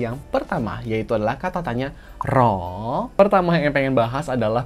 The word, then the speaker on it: หรอ: Dalam penulisan, memang benar ditulis ro dengan huruf r. Tapi ya, kami tahu bagaimana pengucapan huruf r dalam bahasa Thailand. Jadi kemungkinan besar kita akan sering mendengar ini diucapkan sebagai la. Menjadi L.